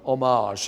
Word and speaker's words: homage: were done really as a homage, or a homage, as you Americans say, to the people, to my heroes in the pop art field.